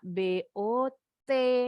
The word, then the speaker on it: bought: Jadi kita bacanya cuma BOT. Banyak huruf mubazir ya nggak kepake. Ini L-nya silent juga.